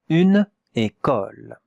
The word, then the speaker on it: école: Une école. Et on regarde maintenant la prononciation. Et, k, ol. Ol. Not o, non. A. Une école.